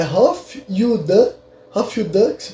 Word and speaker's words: Hofjude: Se tu procurar pro judeu da corte no Google, vai aparecer a palavra que, se eu não me engano, a pronúncia é Hof Yud.